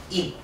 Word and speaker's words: 입: 비읍으로 발음되는 거예요.